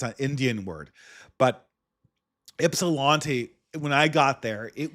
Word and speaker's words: Ypsilanti: And one of those places was a place called Ypsilanti. It's pronounced with a Y. I think it's an Indian word, but Ypsilanti, when I got there,